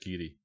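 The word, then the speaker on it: Garioch: And I don't know how everyone in the chat room would pronounce this, but this is pronounced Geary. And people think it's funny, but it's you pronounce that Geary.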